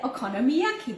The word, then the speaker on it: okonomiyaki: And today we're making okonomiyaki. Oh, get it, said it right. I'm gonna have to pronounce it here.